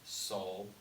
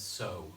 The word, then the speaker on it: sol: ray ray me Fah so but everybody says so because Fred syllable you only pronounce the L under certain circumstances doremi fossil law T